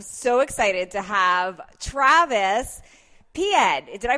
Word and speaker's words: Piéd: I'm so excited to have Travis Piéd. Did I pronounce that right?